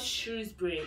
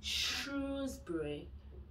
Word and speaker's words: Shrewsbury: It's not Shrewsbury. It's Shrewsbury. Shrewsbury.